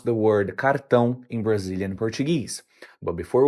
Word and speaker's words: cartão: The correct pronunciation is cartão. Once again, cartão. Now, pronunciation can vary depending on the region, so you might also hear it pronounced as cartão or cartão.